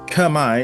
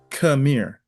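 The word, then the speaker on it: Khmer: So it's not it's not pronounced kami. It's pronounced kamir.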